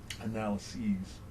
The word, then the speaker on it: analyses: An analysis is a single analysis. More than one analysis would be pronounced analyses. So that is not a misspelling. I don't want anybody like, hey, you spelled analysis wrong.